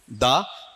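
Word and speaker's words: the: Superlative के लिए क्या है? बड़े वाला दी। कॉमन में क्या है? द है। तो यहां पर दो उच्चारण लागू होते हैं। इसे द मोस्ट भी कहा जा सकता है और दी मोस्ट भी कहा जा सकता है।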